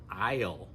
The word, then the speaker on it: I'll: For a lot of us native speakers, this contraction, I'll, is almost pronounced like all.